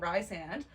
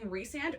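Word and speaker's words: Rhysand: where we talk about Ry sand I'm sorry I'll say it again Ry sand uh because apparently you're supposed to say his name reand reand is not hot no it kind of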